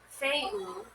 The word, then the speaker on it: Fehu: Interpreting the runes, pronounced Feu, wealth, power of the heart, self-imposed limits, Fafnir's story is a cautionary tale about the power of wealth.